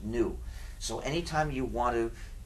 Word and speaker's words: GNU: The reason this word is so full of humor is because, according to the dictionary, the G is silent and it's pronounced new.